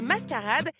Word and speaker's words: MSQRD: coucou c'est papy Joo cette nouvelle appli s'écrit msqrd mais ça se prononce mascarade et elle va t'éclater